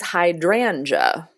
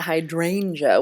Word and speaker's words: hydrangea: was doing my research, I have been pronouncing it wrong for 20 years probably. It is hydrangea, Okay. not hydrangea, which is, what I had always said.